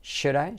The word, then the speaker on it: should: Debería yo ir, should I go, should I. Letra clave SH, letra semiclave U, tirando a O, should, y la L no se pronuncia.